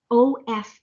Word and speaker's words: of: you to see this o f of like a letter v o f f off